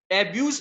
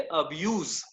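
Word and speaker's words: abuse: तो अभी याद रखना आपको कि इसको, सॉरी, कई बार लोग एब्यूज प्रोनाउंस करते हैं, इसको एब्यूज मत बोलना, इसको हम बोलेंगे अब्यूज, ठीक है, एब्यूज मत बोलना।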